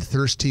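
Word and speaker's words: Thirstea: here's the tricky thing it's spelled ta h i r s t e a all one word thirsty one word it is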